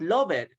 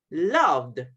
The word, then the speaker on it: loved: We don't pronounce the ED.